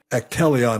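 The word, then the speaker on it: Actelion: they've also made several deals recently as according to Zacks now to boost their revenues they acquired Swiss biotech atelion I think is how you pronounce it a-c-t-e l-i-o-n for 30 billion dollars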